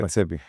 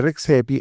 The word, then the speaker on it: Redzepi: Y casualmente con René, el apellido siempre me lo bien pronunciado, Redzepi. con René Redzepi ha habido todo un escándalo reciente a principios